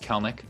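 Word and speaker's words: Kelenic: like you were a big mariners fan jared colenic or whatever the heck his name is just got called off are you excited that's it it's pronounced kalnik sorry i was close i was close but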